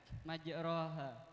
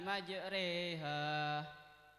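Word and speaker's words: مجريها: Yang benar gimana cara bacanya? Bismillahi gimana? Bismillahi majreha harus dire begitu. Iya. Kenapa dibaca majreha? Bacaan apa? Bacaan imalah. Bacaan imalah. Apa bacaan imalah itu? Bacaan imalah artinya memiringkan bunyi fathah pada kasrah.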